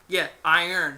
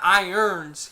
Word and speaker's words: Iron: Now, Gregory Iron, Iron, not irons.